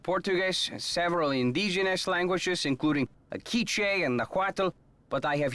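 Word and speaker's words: K'iche': several indigenous languages including akiche and najuato but i have yet to learn the language of glyphs yeah so it is not quiche like the french pronunciation uh is there a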